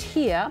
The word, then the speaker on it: Hir: well smashers here pronounced here but spelled hir has been described as